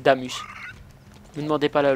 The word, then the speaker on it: Damas: Bizarrement, oui, ça s'écrit Damas, mais c'est Damus.